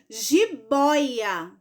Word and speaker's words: jiboia: que palavra é essa Jibóia Jibóia Qual é o pedaço na sorte o boy muito bem então a palavra Jibóia é paroxítona por quê Porque a sílaba mais forte dela é o boy é a segunda no